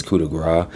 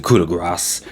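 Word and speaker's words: coup de grâce: kind of bothers me I always feel like they're pronouncing it wrong I feel like it's coup de gras but they always say cool to grass and they put the emphasis on the S with this year however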